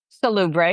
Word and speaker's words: Solubrae: 20% off to try your own bottles of Salubre. Did I say that right? Salubre, yeah. Salubre, sorry. I was looking at I didn't understand the pronunciation, so my brain is still catching up.